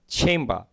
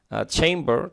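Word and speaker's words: chamber: Small চেম্বা, ওরা বলবে চেম্বা, কিন্তু এখানে এ থাকার জন্য, আ থাকার জন্য, এই এ বর্ণ থাকার জন্য এখানে আর উচ্চারণ করবে ব্রিটিশরা। হি ওপেন্স হিজ চেম্বার, তিনি তার opens his small চেম্বার after breakfast.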